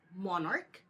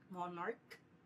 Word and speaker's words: monarch: First if the noun ends with a ch but it's pronounced with a k sound like the word monarch. Again it ends with a k sound monarch.